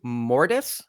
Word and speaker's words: Mortis: Am I pronouncing this properly? Mortis?